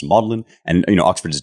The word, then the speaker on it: Magdalene: he's teaching here at madlyn which is my Oxford College that's where I did my degree in Oxford it spelled Magdalene but it's pronounced maudlin and you know Oxford